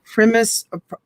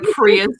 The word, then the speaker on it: Prius: Primus, Toyota, how do you say? Prius. Prius, thank you.